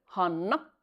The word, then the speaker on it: Hanna: Hanna, no se pronuncia han en fines, esa doble n es una n muy larga, hanna.